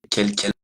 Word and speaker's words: quel: Quelle est votre nationalité? C'est féminin. D'accord? Ok. Ici, quel est votre nom? Quel, c'est la même prononciation, quel, mais le nom est masculin, donc mon quel est masculin.